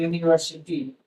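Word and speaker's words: university: इसका उच्चारण होता है यूनिवर्सिटी। यूनिवर्सिटी और यूनिवर्सिटी का मीनिंग होता है विश्व विधान। विश्व विद्यालय यहां यूनिवर्सिटी में यू एक वोवेल स्वर और इसकी साउंड में आई से स्टार्ट होती है।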